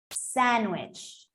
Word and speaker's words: sandwich: Well, I was taught to say the word without the D, sandwich.